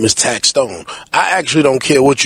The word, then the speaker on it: Taxstone: I mean a lot of people call me tax one taxone you know what I mean my name is taxstone I actually don't care what you call me